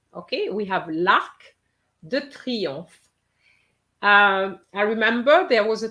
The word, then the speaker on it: Arc de Triomphe: L'Arc de Triomphe. What about you, Rihanna? L'Arc du Triomphe. Très bien. So here we have a C, but we have to pronounce it. Okay, we have l'Arc de Triomphe.